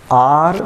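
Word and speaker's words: hour: इसके बाद last question है आज का, ही इज़ आर लेट। यहाँ पर हावर लिखते ज़रूर है लेकिन ये साइलेंट रहता है, इसका उच्चारण नहीं होता, ये लिखा तो जाता है लेकिन पढ़ा नहीं जाता, इसलिए यहाँ पर आर्टिकल आएगा एन।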